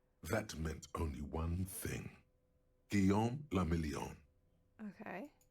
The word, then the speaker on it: Guillaume le Million: Guillaume le Million. Okay. If it doesn't rhyme, you're not pronouncing it right. Guillaume le Million.